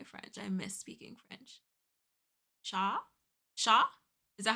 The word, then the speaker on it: chat: Yeah, I don't think you don't pronounce the T. Isn't it Shaw?